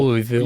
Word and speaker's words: Louisville: other than Louisville Louisville Louisville you get this question there's no I it's l u h v u l l l Lille and